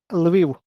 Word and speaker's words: Lviv: How do you pronounce that city? Sorry, you cut out. Lviv.